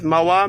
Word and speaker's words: Moa: giv officer Cooper under durus my name is MOA can you spell that for m o a last name last